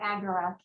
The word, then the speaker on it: agora: one function of the agora or she likes to say that agara which i think is the more greek pronunciation of it okay um i'm going